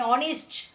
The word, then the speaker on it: honest: H consonant but pronunciation hour. Ah. An hour. Ah. An honest lady.